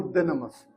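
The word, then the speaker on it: δύναμις: Esa palabra poder, el origen griego es ah damos ah dynamas. De de esta palabra en español si la leemos es dunamos. Se pronuncia en griego dynamas.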